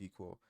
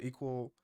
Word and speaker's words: EQL: of the studio code eql is pronounced equal so an equal uh version of the